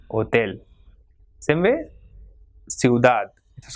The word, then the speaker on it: hotel: Same way, hotel. So it has got 2 syllables. So the last one will be stressed. You will not say hotel, but it will be hotel.